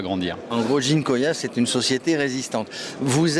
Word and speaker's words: Ginkoïa: Nous sommes sur le stand d'une société qui s'appelle Ginkoya, c'est comme ça qu'on prononce?